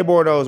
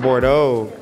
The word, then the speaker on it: Bordeaux: yeah bordeaux everybody was saying yo cj say bore those one more time and i kept saying it